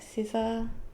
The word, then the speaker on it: Siser: vinyl, printable HTP, iron-on, scissor HTP, iron-on. They have a lot of brands and a lot of categories. I actually go with, and I think I'm saying it right, scissor, SISER.